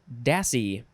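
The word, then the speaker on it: dassie: pot next is dassey it looks like lassie the dog lassie but it's with a d noun from 1814 the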